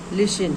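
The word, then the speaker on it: listen: लिसन एल आई एस टी ई एन लिसन लिसन means सुनना।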